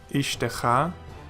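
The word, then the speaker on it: אִשְׁתְּךָ: The first one is silent, and the second pronounced. So we pronounce this as Ishtecha, and it means your wife.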